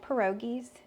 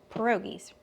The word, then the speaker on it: pierogies: I've got 4 cheese pierogies. That's how you say it, right? I'm over here doubting myself. Let's ask old Google. Pierogies. Okay, Pierogies. I'm saying it right.